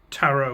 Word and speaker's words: tarot: Oh, you mean taro. She's Portuguese. I don't know why her going is the correct pronunciation of me just saying taro without the t at the end.